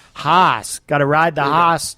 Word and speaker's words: Haase: Think of like horse, but say it like you're in northern Maine. Haase. Haase. Haase.